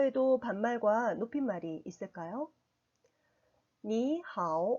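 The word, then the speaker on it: 你好: 말해서 안녕하세요 라는 뜻입니다 니하오 5 2 삼성 이고요 하우 삼성입니다 이렇게 삼성이 2개 연달아서 오면 앞에 삼성이 이성 으로 바뀌게 됩니다 바른 편에서 2성 3성 으로 발음 하게 되요 표기는 삼성 삼성 으로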